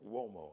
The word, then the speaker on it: Uomo: Mario Uomo, I know it sounds like it's spelled with a W, but it's not. It's an Italian word, so it's you.